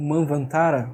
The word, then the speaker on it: Manvantara: Então, para o Guénon, o Manvantara, ou Manvantara, né? As duas formas são corretas, tá? Não me venham com esse negócio, não, a pronúncia correta é Manvantara. Em hindi, inclusive, falam Manvantar, né? É assim. Eu sei que é a idade de Manu, né? Mas as duas pronúncias acontecem, né?